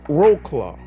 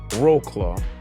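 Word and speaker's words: Wrocław: angry at me but from what I've read I got an eighth grade education but it's roll claw so it went down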